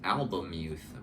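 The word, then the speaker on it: Albemuth: by Philip K dick I kept pronouncing it alth which is wrong because the L is before the E so I think it's album youth but that is just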